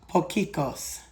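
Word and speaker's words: potjiekos: And it's I found out how to say it, pokeos.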